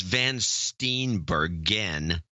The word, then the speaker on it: Van Steenbergen: By the way, it's Van Steenbergen is our guy, our Marine. Oh, I mispronounced his name on the show.